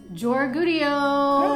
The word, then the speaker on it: Georgoudiou: Today we have the handsome, the brilliant, and the wonderful Nick Georgoudiou.